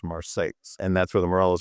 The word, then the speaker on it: Marseilles: spelled exactly like Marseilles, France, but it's in central Illinois, so it's pronounced Marseilles.